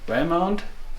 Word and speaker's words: Valemount: And now I'm here in Valemount. Am I pronouncing it right?